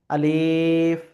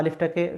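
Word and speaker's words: ألف: অনেকে আমরা পড়ি আলিফ। আবার অনেকে বিভিন্নভাবে পড়ি। তো ওই সমস্ত সিস্টেমে পড়লে হবে না। আলিফটাকে শুধু এভাবে পড়তে হবে।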